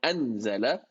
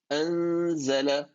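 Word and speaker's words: أنزل: It's not anzala, that will be idhar. It is an, like you're already almost pronouncing the zay without actually pronouncing it yet. Anz, anzala.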